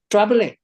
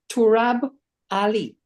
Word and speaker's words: Turab Ali: He said, Trabole. But what it was Turab Ali.